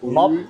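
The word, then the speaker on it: một: Mop, hai, ba. Mop. Mop. Mop. One. Oh, I thought it was M-O-T. Okay. It is spelled M-O-T, but it Yeah. said mop.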